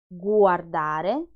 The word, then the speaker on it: guardare: Guardare, guardare is the verb to watch. Lingua, lingua is the tongue. Guanti, guardare, lingua.